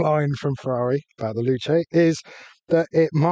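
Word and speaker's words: Luce: I thought it was loose. Okay. Luch. Depends who you ask how to say it, but apparently according to Ferrari, you say Luche.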